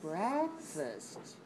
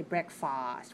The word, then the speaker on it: breakfast: start your day with breakfast okay notice we don't say break fast we don't say breakfast we say breakfast the second syllables week we stress the first syllable breakfast if you watch